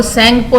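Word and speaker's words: Tsangpo: तिब्बत में इसका नाम है सेंगपो. टी साइलेंट है और सेंगपो नाम है इसका.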